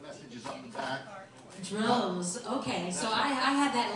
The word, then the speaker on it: Droz: Droz, okay, so I had that a little bit wrong. Droz Marketing. No, that's D-R-O-Z. D-R-O-Z. Okay. Rhymes with rose, just doesn't smell as sweet.